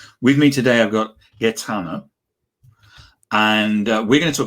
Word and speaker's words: Gaetano: isn't their first language, your name is Gaetano, Gaetano. Yeah, Gaetano. and then. Yeah, so Gaetano. Perfect. I couldn't have pronounced it better myself.